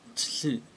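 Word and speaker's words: つ: but it's su, and you kind of have to pronounce it as if you're just ending a word and starting a new word, like something t, and then starting a word with su, tsu, but I'm not really pronouncing it properly.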